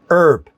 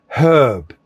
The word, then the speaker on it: herb: Americans will say that herb sounds like the name of a man.